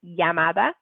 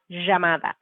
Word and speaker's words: llamada: in several previous video with the double-l pronunciation so we can see it Yamada Yamada or Hamada so we can have